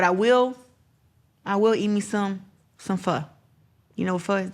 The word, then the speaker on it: pho: They say we say it wrong. It's pho. P-H-O.